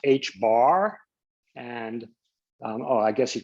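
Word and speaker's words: ħ: It's pronounced H bar.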